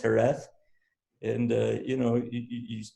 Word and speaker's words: Jerez: i couldn't speak in fact i was saying jurez because it's spelled j-e-r-e-z and i'm saying jerez right and it's pronounced hereth and uh you know you you don't speak